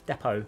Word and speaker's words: depot: Silent T Shaka depot.